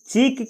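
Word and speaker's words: chalk: meaning है चौक चौक इसमें एल का उच्चारण नहीं किया जाता है इसको पढ़ा जाता है चौक चौक यानी खली यानी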